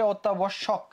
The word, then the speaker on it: অত্যাবশ্যক: একটু আগে পড়ে আসছিলাম যে অর পরে যদি একটা কি থাকে জ ফলা থাকে তাহলে ওটা কি হবে ওটা কি হয়ে যাবে ওটা ওর মত হয়ে যাবে তাহলে অত্যাবর্ষকে কি হয়ে